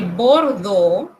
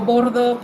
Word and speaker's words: Bordeaux: Cuando usted encuentre la combinación de letras E, A, U, esto se pronuncia O. Como la ciudad de Bordeaux, aquellos aficionados al ciclismo